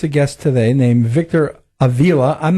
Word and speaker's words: Avila: having me on and how do you pronounce your last name Avila or Avila it Avila Avila Peter was right pita had the pita had the correct pronunciation so all those years